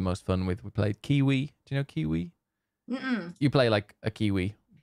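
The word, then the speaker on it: Keywe: We played Kiwi. Do you know Kiwi? Mm-mm. You play like a Kiwi, but two Kiwis. And but it's spelled like key as in like the lock. So K-E-Y and then W-E.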